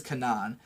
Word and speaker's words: Kanan: this girl named Kanan, and I'm gonna pronounce it that way because that's how they fucking say her name in the show. I know it's like a different word, but her name is Kanan.